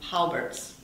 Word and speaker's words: Colbert: you just said um holbert's i love everybody i say holbert but it's all i guess colbert's what the locals say do do